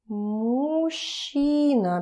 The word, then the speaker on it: мужчина: Мужчина, because it's a very interesting word. It's pretty difficult to pronounce it as мужчина, because those two, it's difficult to put them together.